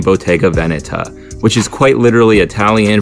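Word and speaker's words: Bottega Veneta: often hear people saying BGA Vanetta and to be honest that's what I used to call it but because the name is Italian the correct pronunciation is technically BGA Veneta call it whatever you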